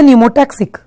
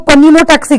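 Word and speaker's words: pneumotaxic: याद रखना कितना इजी है, पी से पॉन्स, पी से न्यूमोटैक्सिक। इसको पन्यूमोटैक्सिक नहीं पढ़ना चाहिए, पी साइलेंट है, ठीक है, पर पी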